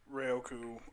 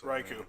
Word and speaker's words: Raikou: But like we were saying, with regards of like Entei, Ryoku, I know I said that name wrong. I call him Raikou. That's Raikou.